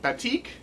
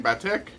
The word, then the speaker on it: batik: the uh what sangonium batik I hope I'm saying that right I was mispronouncing it before I think I was saying bad tick but I think it's batik uh and this one